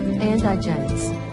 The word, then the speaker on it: indigence: To correctly pronounce indigence, accent the first syllable, andigens.